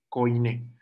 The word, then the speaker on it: koine: El Nuevo Testamento se escribe todo en griego koine con K, koine.